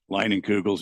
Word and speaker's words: Leinenkugels: Leinenkugels, yeah.